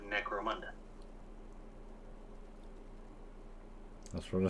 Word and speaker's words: Necromunda: It's like necrophilia, but Necromunda.